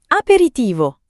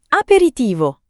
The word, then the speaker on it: aperitivo: Aperitivo. Aperitivo. Tre sillabe. Aperitivo. No. Aperitivo. No. Aperitivo. Cinque sillabe. Ma scorre veloce.